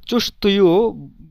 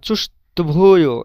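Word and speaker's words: чувствую: এখানে এই যে ভে, এই তের পরে যে ভে, এটার উচ্চারণ একেবারে সফট হবে, কিন্তু উচ্চারণটা চুস্তভুয় এভাবে হবে না। চুস্তুয় চুস্তুয় মানে ডিরেক্ট ডিরেক্ট তুইও হবে না, তুভুইও হবে না, এই দুটার মাঝামাঝি উচ্চারণ হবে।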